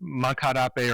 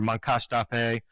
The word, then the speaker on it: Moncacht-Apé: His name is pronounced Moncacht-Apé or Moncacht-Apé.